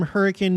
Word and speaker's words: Hurricane: forgot about it uh Tom Trump hi from Hurricane Utah yes you're supposed to pronounce it hurricane that's how they say it hi from Hurricane